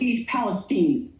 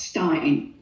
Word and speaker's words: East Palestine: It's East Palestine, not Stein.